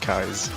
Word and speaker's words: Keyes: And it's actually pronounced Kai's.